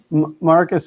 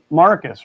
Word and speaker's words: Marcus: Marcus says, people even have trouble with my first name. They say it like there's an I in it. But it's Marcus, right?